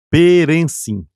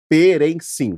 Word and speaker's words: Perensin: Como que se pronuncia esse nome? Perrencin. Perrencin.